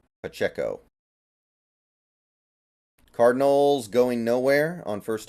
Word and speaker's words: Pacheco: By the way, am I pronouncing his name correctly? Pachinko? Or is it Pacheo or something? Does anybody know? I feel like I have to be pronouncing it wrong, but I'm so used to saying it, I don't want to change it, you know? Pacheo? Pacheco? Pacheco, okay. Pacheco.